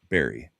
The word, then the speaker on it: Berg: I'm actually shocked to find out that Berg, the spelling of Berg, is pronounced Berry. Oh, I didn't know that. Yeah. In Swedish.